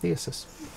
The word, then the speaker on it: Theseus: Yeah, so you can almost make a ship of Theosis. Theseus. It's not Theseus, because there's no U before the first S.